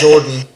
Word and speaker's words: JRDN: Take out the vowels and you got Jordan.